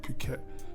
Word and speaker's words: Phuket: your YouTube family we are live from Phuket Thailand I hope I said that right Phuket Phuket I don't even want to say what